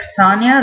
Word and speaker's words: Sonjia: and on the show they call her Sonjia, but I really like Sonia. That's how this name is like traditionally pronounced, and I like that better.